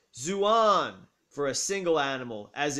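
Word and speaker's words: ζῷον: zohar a plural nominative neuter noun meaning animals pronounced zouan for a single animal as in verse 7.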